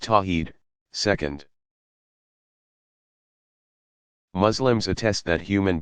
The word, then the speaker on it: tawhid: Affirming God's absolute oneness is called Tawhid, pronounced Tawheed, second.